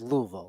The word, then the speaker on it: Louisville: And there was a whole thing about him pronouncing Louisville and Louisville. He says Louisville. That's what they say down there.